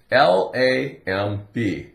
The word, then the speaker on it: lamb: here's the word lamb l a m b La a am am am am like I am but no contraction just am La La La from the L lamb the B is silent what is a lamb